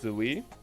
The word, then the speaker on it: Zai: Oh yeah, also Zai is actually apparently pronounced Zoe.